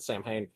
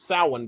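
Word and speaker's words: Samhain: you mispronounce it because it is spelled like it should be pronounced Sam Hayne. Even when they mention it like in the TV show Supernatural, I think they called it Sam Hayne which is not how you pronounce it.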